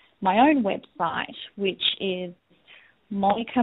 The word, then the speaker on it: Monika: But I will also just mention that I have my own website, which is Monika Morani. So that's M-O-N-I-K-A. Morani is spelled M-U-R-A-N-Y-I.